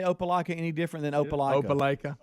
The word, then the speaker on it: Opelika: Opelika. Opelika. This is just what the emailer said. I'm like Bubba. It sounds like I'm saying the same thing he's saying. WNBC. What? I've never heard you say Opelika any different than Opelika.